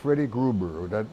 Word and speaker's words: Freddie Gruber: Number one, let me talk about Freddie Gruber, that's how you pronounce his name.